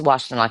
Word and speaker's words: Washtenaw: It's Washtenaw County.